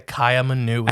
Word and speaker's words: Kaiaimunu: you say this crypted again K manui the Caya manui I remembered good so this is a living